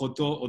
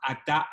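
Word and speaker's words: אתה: Vieron que hay judíos que hablan con la O, Baruch Oto Adonai, y hay otros que decimos Baruch Atá Adonai, como si fueran dos idiomas distintos. Bueno, la diferencia es que la O es la pronunciación ashkenazí y la A es la pronunciación sefaradí.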